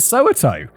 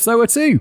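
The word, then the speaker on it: Soweto: so 2 not so to oh I've always pronounced it Soo but apparently it's so to so to his mother myy maaso who had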